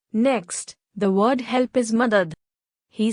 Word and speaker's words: madad: carefully shukria she smiled as she got the pronunciation right Zade continued next the word help is Mother he said the word slowly mother Lena tried